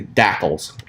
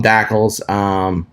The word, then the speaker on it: DSACLS: I call them DACLs. It just something that how I pronounce it. I don't know if that's how others pronounce it, but it's dsacls.html.